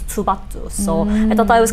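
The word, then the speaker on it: 투바투: you just say and if you kind of pronounce it like a little softer then it becomes tubatu so i thought it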